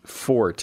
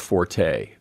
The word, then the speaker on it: forte: what you're talking about is Fort instead of forte Forte is one of